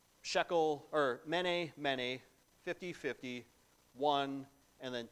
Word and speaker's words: mene: And briefly put, if you were to look at these as financial transactions and it were pronounce them out loud in Aramaic, the way you'd pronounce it is mene, or it's a note for 50 or 60 shekels.